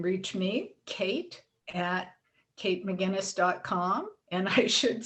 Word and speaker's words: McGuinness: and i should say my guinness is spelled in the most difficult way it's like the guinness book of records or guinness stout and put an emcee in front of it so kate mcguinness